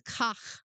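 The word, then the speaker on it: חח: This Hebrew word for hooks, and it's pronounced kach, can refer to a ring in a person's nose or lips.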